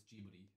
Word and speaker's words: Ghibli: I think it's Ghibli, because it's in Japanese, it's Ghibli. Say that again. What? Say that again. Ghibli.